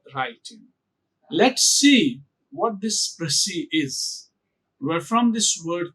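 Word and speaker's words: précis: dip Tong here which is a a it's prey then it is C pre it's PR it's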